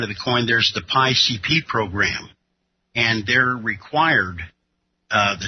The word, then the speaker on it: PIECP: Oh, and it's PI-CP. I said PCP because I didn't know how to pronounce that.